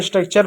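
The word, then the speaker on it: structure: दिया, नेचर पढ़ दिया, क्योंकि टी यू आर ई है। जब कभी भी टी यू आर के साथ है तो उसका उच्चारण चर के रूप में होगा।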